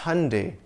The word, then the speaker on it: Hyundai: It's Hyundai, like Sunday.